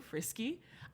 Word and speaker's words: Friske: do no it's okay no it's frisky no one knows frisky oh my God no I have people who have known me for five plus years don't know how to pronounce my last they say Frisk Frisk well then it was